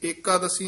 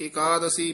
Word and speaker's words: एकादशी: एकादशी व्रत रहे हाज एकादशी नहीं कहना एकादशी पाठ इकट्ठा ही करना एकादशी व्रत रहे एकादशी